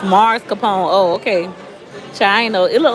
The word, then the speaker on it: mascarpone: For those of you who just joining, he says it's pronounced Mars Capone. Oh, okay. China. It look like ice cream. This thing is so good. Somebody says mascarpone.